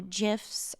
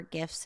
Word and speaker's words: GIF: I have created or I've found new GIFs or GIFs, if you prefer that pronunciation, for my emails.